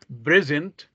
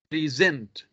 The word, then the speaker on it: present: so pay attention here there is a difference here on the stress here the first one present present here is a syllable as the stress is on second syllable and and second one present present here the stress is on the first syllable the third one who